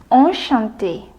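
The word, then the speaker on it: enchanté: to meet you but in French we say on Shanti if he is a man or Shanti with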